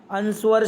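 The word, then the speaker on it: answer: अंस्वर शब्द में कौन सा मूक अक्षर है? Which is a silent letter in the word अंस्वर। इसमें W जो है ना वो साइलेंट लेटर है।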